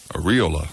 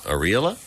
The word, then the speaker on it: areola: good this guy says it should be pronounced with the emphasis on the e instead of the o the aries areola areola he says no make